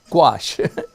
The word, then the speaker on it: gouache: it anyway but the word the answer is gouache not Gooch gouache watch a wash it wash just like squash